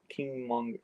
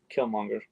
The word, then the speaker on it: Killmonger: Because remember Black Panther just brother is that Kingmonger, no, Killmonger, saying it wrong.